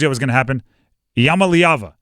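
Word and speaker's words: Iamaleava: was going to happen Yama liava there you go uh yava Yama leava I believe that's how you pronounce it Tennessee quarterback he's a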